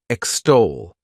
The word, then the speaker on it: extol: The next verb is extol. To extol, this word has 2 syllables, and the stress is on that second syllable.